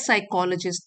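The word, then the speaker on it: psychologist: This is what साइकोलॉजिस्ट। P silent है। साइकोलॉजिस्ट call a growth mindset.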